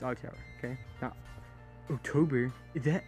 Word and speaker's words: octtower: If you don't know who I am already, that's how I always pronounce it. If you don't even know how I pronounce my fucking name, it's octtower.